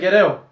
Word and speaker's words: Guerrero: How do you pronounce that name? Guerra? Oh, David Guerrero. David Guerrero.